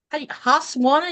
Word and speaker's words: Husqvarna: Vicky says I have a, oh my gosh, Husqvarna, is that how you say it?